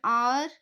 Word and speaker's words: hour: So see here an hour we pronounce the word o more, not h. H will become silent.